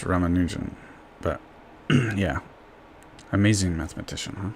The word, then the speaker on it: Ramanujan: ramama how do you say his name Raman ramanujan right ramanujan he's my favorite uh Indian of all time